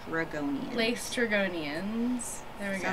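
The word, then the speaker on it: Laestrygonians: lester go late or lace dragonians that's how you lace dragonians there we go it's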